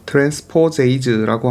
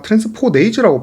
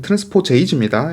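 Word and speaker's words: transposase: 얘들은 당연히 이게 이제 삽입될 때 트랜스포제이즈라고 하는 효소가 필요합니다. 자, 제가 앞에서 아마 트랜스포네이즈라고 발음했던 거 같은데 트랜스포제이즈입니다. S가 맞아요. 트랜스포존이기 때문에 끝에 여기서 끊어 가지고 H 붙이는 트랜스포제이즈가 맞습니다.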